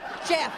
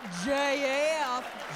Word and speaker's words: Jeff: She said, because, ma'am, in Lansing, Michigan, we pronounce the name Jeff with one syllable, Jeff. Not J.F., J.F.